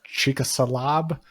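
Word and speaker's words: Chicxulub: not going to pronounce that word but it's pronounced chalab crashed into what is now Mexico the asteroid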